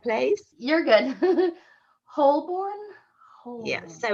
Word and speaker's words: Holborn: It is pronounced Holborn. Holborn. Huh. Yeah, us Brits are weird, aren't we? Yeah, there's probably many random letters in there that you just forget about.